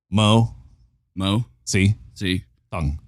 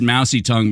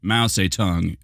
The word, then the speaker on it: Mo Si Tung: Mo Si Tung, like mouse a tongue. Maybe. Huh, that's weird. Maybe I only said mousy tongue because I've heard people mispronounce mouse a tongue as mousy tongue.